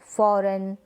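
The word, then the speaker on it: foreign: जैसे कि डिज़ाइन, फॉरेन, sign, Nash, align. यहाँ पर जी जो है एन से पहले है, तो यहाँ पर इस जी को हम प्रोनाउंस नहीं करें, जी यहाँ पर साइलेंट है।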